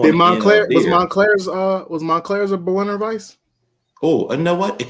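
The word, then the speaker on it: Berliner Weisse: Berliner not barley wine. Yeah, how you say it? Berliner Weiss. Oh, Berliner Weiss.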